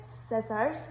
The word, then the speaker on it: scissors: we have got is scissors can you think of what the silent letter is in that and it is the c in that particular word so because we have